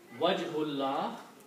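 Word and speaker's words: وجه الله: Wajhullah. So what happens here? This alif is not pronounced. Okay? So it becomes a Hamzatul Wasl like this.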